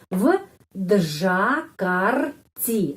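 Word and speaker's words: в Джакарте: Tapi di sini huruf V ketemu sama huruf D yang ada suara, voiced, ya, huruf konsonan voiced. Jadi V benar, V tetap V. V Džakarti, v Džakarti.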